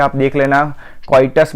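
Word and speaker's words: coitus: Natural method होती है क्वाइटस interrupts, यहाँ पे स्पेलिंग मिस्टेक है आप देख लेना, क्वाइटस बोलते हैं उसको, कैइटस नहीं बोलते, क्वाइटस इंटरप्ट्स बोलते हैं, क्लियर।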